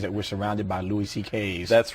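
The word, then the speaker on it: Szekely: It's S-Z-E-K-E-L-Y, and it sounds like C.K., though.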